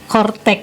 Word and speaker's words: Coretax: jusan itu kortek ya kalau ditulisnya ini coretak ya coretak Jadi dibacanya itu kortteex jadi tadi sudah dijelaskan